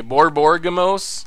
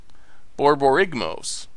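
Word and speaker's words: Borborygmos: Borborgamos? I don't think I pronounced it correctly, but...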